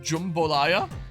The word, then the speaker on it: jambalaya: I'm gonna start cooking jambalaya, by the way, pronounced jumbolaya.